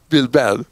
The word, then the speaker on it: Bilbao: Bilbao.